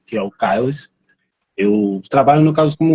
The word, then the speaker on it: Kaelhaz: O nosso convidado de hoje é o Cardoso, que é também conhecido como Kiel. Pronunciei certo? Que é o Ou Kailash. Kailash. Pronto.